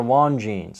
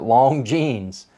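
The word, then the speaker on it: Longines: they're not too great the same goes for won genes a lot of people mispronounce it long genes l-o-n-g-i-n-e-s they make some good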